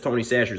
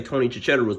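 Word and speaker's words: Tony Chachere's: that tony sasha but nobody really know how to pronounce this word but i found out that it's tony sessions i used to say tony chicharrous but either way it don't matter grab you some of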